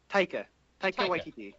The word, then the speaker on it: Taika Waititi: How do you pronounce his first name? Taika Waititi. Okay. It's directed by him. I've never seen anything that he's done, I don't think. But he Taika Waititi is he cut his teeth directing episodes of